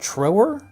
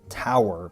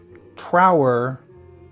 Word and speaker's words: Trower: How do you say that? Trower? I've always said it incorrectly, I think. I've always wanted to say Robin Tower, but that's not right.